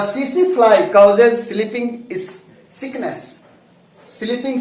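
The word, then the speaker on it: tsetse: TSE, T silent रहेगा बच्चों, इसमें TSE है, बीच में हाइफन है, फिर TSE है, तो इसको TC मत पढ़ना, CC पढ़ सकते हो।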